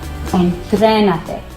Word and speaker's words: entrénate: So this is where the accent goes. So you say, entrénate, and you probably... So look, entrénate.